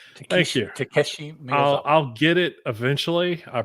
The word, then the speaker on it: Takeshi Miyazawa: And this is created by Greg Pak and Tashiki Mizukawa. Thank you. Takeshi Miyazawa.